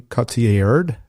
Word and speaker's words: Cotillard: It's going to be a musical starring Adam Driver and Marion Cotillard. How do you say her last name? Cotillard.